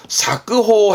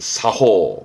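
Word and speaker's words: 作法: 작법이라 써놓고 사끄호 해버리면 그거는 물건을 만드는 법인데 그건 시험 때 안 나오고, 발음은 이걸 챙겨야 돼. 여러분, 사호.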